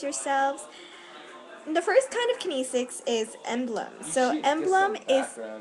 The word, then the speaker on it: kinesics: thought Mak a video oh I am it's kinesics and oh thought you're making a video and